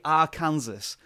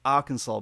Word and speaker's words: Arkansas: of that state it you want to say Arkansas but I know it's pronounced Arkansas because that's where Bill Clinton's they he was